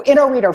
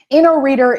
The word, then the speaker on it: Inoreader: No, Inoreader, fun fact. Inoreader is pronounced that way. Inoreader, it's from the founding company's name, Inologica.